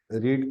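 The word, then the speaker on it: read: रीड की third form रेड होती है, स्पेलिंग सेम ही है लेकिन प्रोनाउंसिएशन का डिफरेंस है जी।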